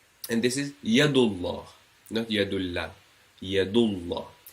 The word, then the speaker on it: Allah: as you can see you have the Fatah or the Dhamma before the allah means you pronounce the allah with a round mouth heavily and then the second